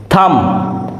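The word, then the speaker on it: thumb: B lamp lamp means ভেড়া এখানে বি এর উচ্চারণ হয়নি টম টি ও এম বি Tom that means সমাধি থাম টি এইচ ইউ এম বি থাম থাম মিনস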